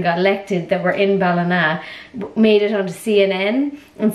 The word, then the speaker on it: Ballina: I didn't know this, but apparently Biden's American Irish and he has ancestors from Ballina in County Mayo.